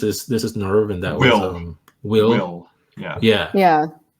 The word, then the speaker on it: WILLE: Like this is Nerve, and that was Will. Yeah. So, WILLE. Yeah. I think they pronounce it Will in the movie.